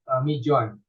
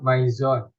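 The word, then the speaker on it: Mizone: Indonesian language, because mijon, the Indonesian people will pronounce it, will say it as mijon, not maizon.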